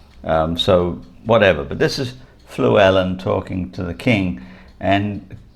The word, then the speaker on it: Llewellyn: Now his real name is probably Llewellyn, or Llewellyn, but that the English can't pronounce the barred L, so instead of chl, they pronounce it fl, which is why you